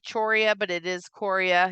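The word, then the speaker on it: chorea: or jerky movements called Cora all right um it looks like choria but it is Coria you don't pronounce the h of the arms and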